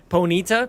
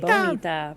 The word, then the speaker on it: Ponyta: Ponita? Ponita? Ponita. I say Ponita. Ponita. Oh, that's probably better. We are trying to say it like bonita. Like bonita, but it's bonita.